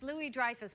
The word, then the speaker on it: Louis-Dreyfus: over to the church no it's actually French Lily Dreyfuss but you're always mispronouncing